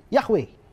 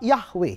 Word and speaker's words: Yahweh: karena ini aturannya nah lalu bacanya Bagaimana nah seringkali sekarang dibaca menjadi yahwe Hai kamu jauh juga